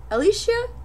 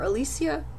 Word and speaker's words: Alicia: back blurb for you Alicia or Alicia I'm not sure how I've seen it pronounced sort of both ways but um I I think Alicia Alicia usually has an e in it and this doesn't or is the other way around because Alicia Keys is spelled this way a l i c i a so I think it's Alicia um yeah so I'm